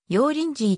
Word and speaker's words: 油淋鶏: 料理広東省発祥鳥の中国語での発音は無声音の pc だが日本人の耳には g と聞こえることがあるため要リンジーとも言う油注ぎ鳥の